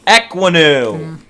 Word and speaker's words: Ekwonu: With the 5th pick of the 2022 NFL Draft, the New York Giants select Icky Ekwonu. Had to make sure I pronounced it right.